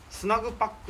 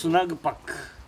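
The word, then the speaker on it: Snugpak: 、それでスナグパックって読むんですけど。スナグパック。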